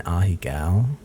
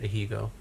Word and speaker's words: Ahegao: It's called an ahigao, and it's a Japanese face of extreme pleasure, usually for sexual reasons. Ahi, like tuna. Ahigao. Ahi tuna. It is spelled. Ahegao. Oh, I always said it ahigo.